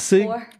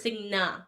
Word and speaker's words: Singapore: So wait, I don't- it's I like mispronounce. singing, It's Singapore. Singa instead of Sig. Ga. No, Like the yeah. N before the G instead of the G. He thought it was Signa.